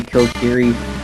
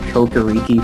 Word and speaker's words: Kokiri: is to hear all the different ways people pronounce things. Croissant! I used to say Kokiri Forest. I guess I read it really wrong, and I pronounced it Kokoriki for years.